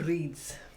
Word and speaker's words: Brid's: But when I introduced this in last video, I did call it Bird's Cross Brewing, and it's not. It's It was wrong. Brid's Cross Brewing. A bit dyslexic there. Breeds.